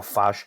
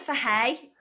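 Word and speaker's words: Fage: if you get, like, is it Farge or Faj? How the fuck do you say it? Oh, you say it for hay. Have you not seen the advert? How do you say it? No, it's called for hay. Okay, so for hay, Faj right? sounds like Raj, so we don't want to be saying that.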